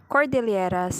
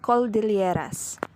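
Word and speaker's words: Cordilleras: end and mispronounced philippine as philippines the learner mispronounced the word cordelieras and said call de lieras outstanding universe value the learner mispronounced the word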